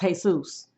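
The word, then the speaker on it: Jesús: and Zhi Hernandez geez real name was Jesus pronounced hey soos but people teased them by using the Christian pronunciation so he shortened Jesus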